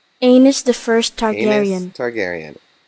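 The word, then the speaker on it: Aenys: though one thing to make clear about the pronunciation of one of the characters names Amos the first Targaryen that's right Amos the first time aerion Targaryen I did not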